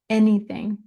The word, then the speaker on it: anything: Any. Eh. It's a weird A. Anything. More like a short E.